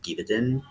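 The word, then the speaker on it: Gévaudan: And then I kind of delved more into it with like looking into folklore of France with werewolves, like the Beast of Givaudan, I think is how you say it.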